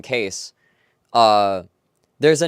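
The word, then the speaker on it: Kees: of Cornelius that's just spelled k-e-e-s and it's pronounced case it's pronounced case and uh and apparently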